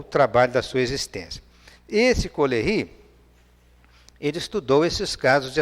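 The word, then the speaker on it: Caullery: Ele fala só Coleri, né? que escreve-se dessa forma com a pronúncia francesa.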